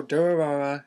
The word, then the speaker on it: Durarara: I mean, I don't pronounce it Dur as in sound motorcycle makes because it could be taken as a derogatory term and when one wants to make someone sound stupid. So, Durarara is set in the